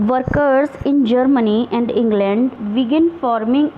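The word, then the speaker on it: Tsar: सा निकोलस इसको समझने आप लोग तार इस तरीके से नहीं करेंगे इसमें मिट्टी साइलेंट रहेगा और ऐसे जार निकोलस से कंट्रोल थे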